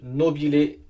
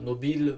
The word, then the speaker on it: Nobile: Italie, marque italienne, donc Nobile 1942. Parce que bon, je connais pas trop l'italien, mais quand on voit un E à la fin, il faut prononcer E. Donc on pourrait dire Nobile, mais bon, je vais tenter Nobile.